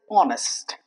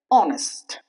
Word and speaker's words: honest: The next example is honest. I'll repeat it once again. Honest. But if we pronounce the silent letter, it would become honest which is obviously wrong.